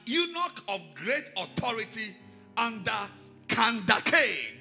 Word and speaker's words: Kandake: And behold, a man of Ethiopia, an eunuch of great authority under Kandake. That is not Candace, it's Kandake. That's the real pronunciation.